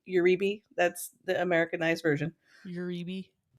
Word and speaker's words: Uribe: It's actually pronounced Uribe. It's Basque. It's Spanish Basque.